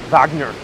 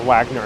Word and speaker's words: Wagner: so many countless operas entails Wagner or Wagner if you want pronounce him more in English and this man was